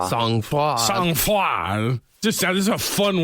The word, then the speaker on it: sang-froid: All right, let's see if the pronunciation is right. Sang-froid.